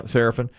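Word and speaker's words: Seraphine: Serafin, yeah, Serafin.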